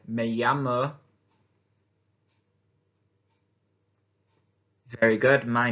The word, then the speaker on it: llamo: Remember how to pronounce that double L is with a Y. Me llamo.